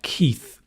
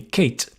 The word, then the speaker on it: Keith: right sometimes in spain spanish people find keith very difficult to pronounce and they call me kate and they think it's kate and they think i'm a woman and then they meet me and go oh you're a man yes because they would pronounce my name kate so sometimes i call